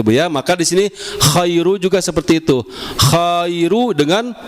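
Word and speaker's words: خَيْرٌ: Pertama buka k kemudian kita rahangnya kita rendahkan khai. Kemudian kita manyun karena rnya berharakat dommah. khairu. Kemudian ketemu apa? Mim. Mim. Khairum. Coba, Bu. Khairum.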